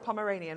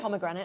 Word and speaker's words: Pomeranian: then also your is said the Pomeranian is that how you pronounce that thank you um I was going to say pomegranate and that's definitely wrong um so yes so